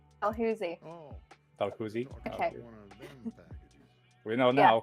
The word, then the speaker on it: Dalhousie: it's Dalhousie. Dalhousie.